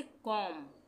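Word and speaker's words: comb: उसी तरह से कॉम, बी का उच्चारण नहीं होगा।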